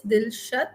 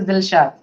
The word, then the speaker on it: Dilshad: Just let me know your name is pronounced as Dilshat or Dilshad. As per Tamil pronunciation, it is Dilshad.